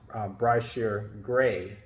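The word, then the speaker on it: Bryshere Gray: I did see was I believe the same is pronounced bright sheer gray the actor who portrays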